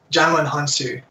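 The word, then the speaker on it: Djimon Hounsou: answer is right but mispronounce this was another great guests because Djimon Honsou it's Jonalyn haan-soo and i missed it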